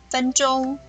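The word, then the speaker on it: 分钟: 分，分钟，分，声调第一声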